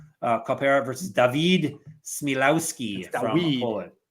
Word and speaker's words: Dawid: Kopera versus Dawid Śmiełowski from Poland. Dawid, yeah, it's spelled Dawid. It's the weed.